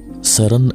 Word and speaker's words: CERN: dalam bahasa Perancis pengucapan singkatan dari serem juga diucapkan dalam bahasa Perancis Sheren adalah sebuah Kompleks laboratorium